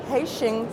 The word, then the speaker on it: Hexing: Today I am with Robert Liang, who is the CEO of Hexing, South Africa. Welcome, Robert. Hi, good morning, Nicolette. Yeah, very good pronunciation. Hexing, Hexing in Chinese.